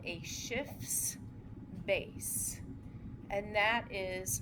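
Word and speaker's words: Schiff base: So this histadine can act as what's called a shifts base and that is spelled C sorry S c I FF apostrophe S shifts base and I think it sounds a lot like shift shifts base Maybe that's what you thought I said at first.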